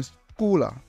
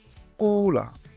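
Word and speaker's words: scuola: হয় যেমন সেনা সেনা যদি এস এ চি এর পরে আ ও উ থাকে তাহলে এটি ক এর মধ্যে উচ্চারণ হয় যেমন স্কুলা স্কুলা চি কে চি ইসাতে থাকলে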